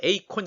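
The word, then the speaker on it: εἰκών: 때가 있었습니다 성 성 이라는 것은 헬라 오라 에이콘 이란 말인데 이거 3부터 영어에서는 아이콘 이라고 이렇게 발음합니다 에이콘 아이콘 이란 말은 우선 된것이 우상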